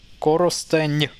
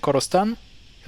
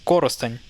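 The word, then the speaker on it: Коростень: So this becomes Korosteny. Instead of saying Korosten, you say Korosteny. But emphasis is actually on the first syllable here, so it's Korosteny.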